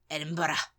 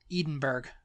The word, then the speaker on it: Edinburgh: of as you said and it's Edinburgh Edinburgh yeah yeah Edinburgh um I think I think we say Edinburg edenburg yeah edenburg Edinburg Edinburg going up